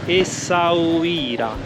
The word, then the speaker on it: Essaouira: Buongiorno ragazzi, nuova giornata, siamo sempre in giro per la cittadina di Essaouira. Ce l'ho fatta, l'ho pronunciato bene dopo 12.000 tentativi.